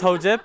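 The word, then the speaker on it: Hojip: white what I think anyways my name is ho chip that's h oj I pee and I find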